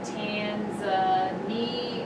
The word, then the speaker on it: Tanzania: the country of Tanzania like they pronounce it tanza knee uh they lived with